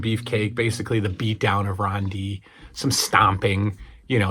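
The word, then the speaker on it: Dee: Ron D, spelled D-E-E. Ron D. 2-syllable name.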